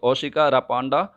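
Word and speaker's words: Ossouka Raponda: ये इंग्लिश में नाम है, हम हिंदी में थोड़ा सा इसका जो प्रोनाउंसिएशन है ये अलग तरीके से किसी भी तरीके से कर सकते हैं। तो ओशोका रापोंडा भी कह सकते हैं, ओशोका रापांडा भी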